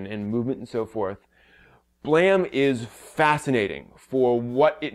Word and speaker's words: BLAME!: the anime is called blam that's spelled blame but it's supposed to be pronounced blam apparently and it is a